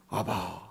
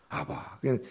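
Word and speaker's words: אבא: 아바. 그러잖아요? 아바. 참 정겹게도 우리의 아빠하고 발음이 똑같아요.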